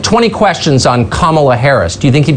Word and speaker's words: Kamala: Kamala, like the punctuation mark, comma.